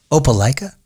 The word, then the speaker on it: Opelika: off the teleprompter yeah now is this pronounced Opelika Opelika Opelika Alabama hope it like Alabama and you know